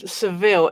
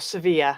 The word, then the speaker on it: Sevilla: But I had a lovely time, and Seville is, oh my goodness, or Sevilla, that's how they pronounce it.